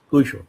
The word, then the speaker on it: Quixote: today's subject, Don Quixote, some called it Quixote, some call it Quixote, some say Quixote, and the Spaniards themselves say Don Quixote. Quixote.